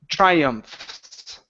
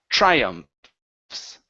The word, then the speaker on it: triumphs: you're saying try okay give me a CH just like my name okay so we're going to say TR try triumphs triumphs there you go that's the sound good all right nice